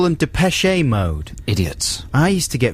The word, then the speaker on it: Depeche Mode: when that happened and maybe that is more like the correct pronunciation i don't know because obviously it's a french word but dipeshi i'm not sure we